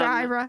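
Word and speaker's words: Aira: It's called IRA and it's spelled with an a I a believe it or not.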